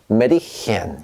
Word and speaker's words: Mädchen: 그런데 우리가 이게 원래 아라고 읽었다면 Mädchen이라고 읽고 싶었겠지만 위에 땡글땡글 umlaut가 붙어있기 때문에 우리는 얘를 어떻게 읽느냐? Mädchen 이렇게 읽어주시면 되겠습니다.